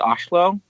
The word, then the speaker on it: Oslo: They pronounce it Oslo, which is really cool.